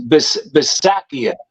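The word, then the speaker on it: Bisaccia: a lot of times they always mispronounce his his name it's B bakia it's b i s a c c i a that's how you spell his name Robert Robert bakia but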